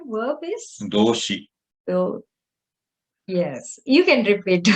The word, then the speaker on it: 動詞: So, verb, let us see the pronunciation. Verb is doushi.